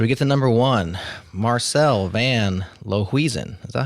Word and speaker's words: Marcel van Lohuizen: Marcel van Lohuizen.